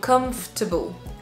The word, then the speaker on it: comfortable: l'entendre certainement il est un peu mangé il est pas dit de la même manière du de la même longueur que les autres donc comfortable comfortable très facile à